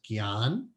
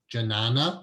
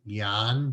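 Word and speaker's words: ज्ञान: The way to pronounce that word is Gyan, G-Y-A-N.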